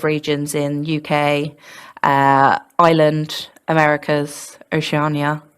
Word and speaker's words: Oceania: We have members worldwide, so active regions in UK, Ireland, Americas, Oceania. How do you say that? I think I've just said that wrong. Oceania? Oceania.